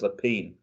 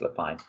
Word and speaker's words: Lapine: They are big names on Broadway, and it was directed by another Broadway legend, James Lapine, or Lapine. I'm never sure how to pronounce that name. I think it's Lapine.